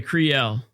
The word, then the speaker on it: Criel: Srail? Sure. How to pronounce Criel in French? Let's see here. Okay, Criel. Okay, cool. I was not far off.